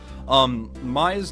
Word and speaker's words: Maya: Maya's name is actually pronounced Maya, and Mia's name is pronounced Mia.